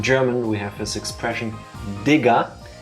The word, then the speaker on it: Digga: we have this expression Digga. It's important to fully pronounce the D, because especially to English-speaking audience, if you don't hear the first sound, this can go horribly wrong.